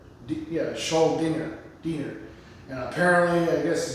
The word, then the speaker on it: Schuldiner: I always thought for years it's Schuldiner. That's just how I thought it was pronounced, Schuldiner. But it's Schuldiner. Schuldiner.